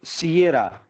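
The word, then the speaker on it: Sierra: एस, सियरा, सीरा नहीं, ठीक है।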